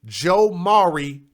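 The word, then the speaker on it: Jomaury: Now, the 4th grade boy's name is Joe Maury Champ. And his name is spelled J-O, and then like Maury, like the Maury Show.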